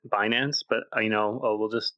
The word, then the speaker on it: Binance: room fled guilt and I've never heard anyone say bance like bday I've I've only ever heard it binance but I know we'll